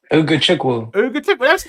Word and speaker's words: Ugochukwu: Hannibal and I did actually learn how to pronounce this one. Ugo Woo. Ugochukwu.